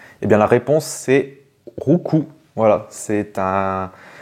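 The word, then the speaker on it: Roucoups: bien la réponse c'est rouou voilà c'est un c'est un mélange entre rou coulé et qui donne des coups voilà voilà c'est donner des coups au pluriel CS donc le S ne se prononce pas voilà donc normalement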